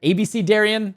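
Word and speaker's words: Abecedarian: things like dabblers or abc darian if you didn't know that's actually the correct way to pronounce that my viewers helped me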